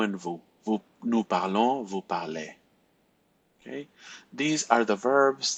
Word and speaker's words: parlez: So, je parle, tu parles, il parle, elle parle, vous parlez. So this sounds a lot like the infinitive parler.